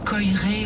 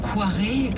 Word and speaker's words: Koyré: C'est Alexandre Koyré ou Koiré, selon les prononciations.